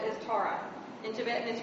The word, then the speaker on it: Tara: 21 aspects of Green Tara which uh which terara her name is spelled as Tara in tietan is pronounced Tara and she pronounces